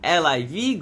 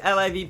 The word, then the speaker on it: LIV: money in it plus Liv promised a sharp break from golf's fussy traditionalism starting with its name which when pronounced rhymes with give but it's actually the Roman numeral for 54.